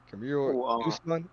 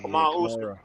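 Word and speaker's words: Kamaru Usman: How to pronounce the name? Camiro Usman. Usman. You talking about Kamara Usman? Yeah, Kamara Usman.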